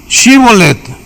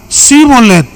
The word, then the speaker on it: Shibolet: si él respondía no Entonces le decían Ah ahora pues di shibolet y él decía shet porque no podía pronunciarlo correctamente Entonces le echaban mano